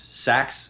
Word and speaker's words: seax: is I don't know how many of these things are pronounced saxs that's what it's that's what we say yeah I looked it up awesome thank you Shannon